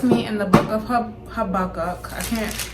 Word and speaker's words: Habakkuk: so he has me in the book of her buck up I can't pronounce his name but it's habakkuk and yeah I have a lot to read